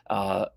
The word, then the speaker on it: Obsidimen: The artwork is Obsidian, which is basically obsidian, but with man at the end. Obsidimen or MAN.